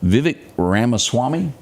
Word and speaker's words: Vivek Ramaswamy: Vivek Ramaswamy.